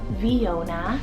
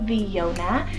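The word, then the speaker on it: Vionna: Next up for the girls side, we have the name Viona, spelled V-I-O-N-N-A, Viona, a beautiful name that means alive and fair one.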